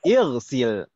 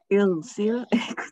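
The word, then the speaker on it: اغسل: Ighsil kita bacanya. Ighsil karena huruf yang di tengah kasroh, maka hamzah wasalnya kita baca kasroh juga.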